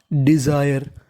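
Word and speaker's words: desire: तो मीनिंग बन गई डिजायर डिजायर यहां पे हमें एस को जा पढ़ना है कभी-कभार हमें एस को जा भी पढ़ना पड़ता है तो मीनिंग बन गई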